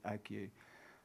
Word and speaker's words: ague: p it's a it's like plague without the p and the l on on the at the start, but you pronounce it ague.